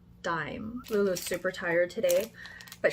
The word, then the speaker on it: Daim: I rewatched those videos that I linked and Liljegren, who's also from Sweden, pronounced it Daim.